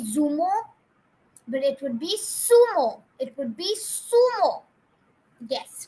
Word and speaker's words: zumo: Z is not pronounced as z, but it is pronounced as sa.